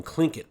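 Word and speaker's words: Tlingit: was a clinket Indian pronouncing clink it proudly with a clicking of his tongue as if saying clink it he was built like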